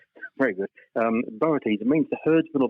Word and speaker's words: Boötes: Have you ever heard of Boötes? It's spelled B-O-O-T-E-S. I think that's how you pronounce it. The straw hats people wear when they go to private schools, isn't it? Boaters, yes. Very good. Boötes, it means the herdsman or the ploughman.